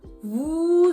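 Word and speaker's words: vous: them together it becomes Vu zet normally when you say Vu we don't really pronounce the S but because the next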